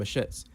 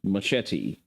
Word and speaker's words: machete: The UK government is introducing a ban on zombie knives and machets. If you've It's pronounced machete, you pigeon speaking troglodite.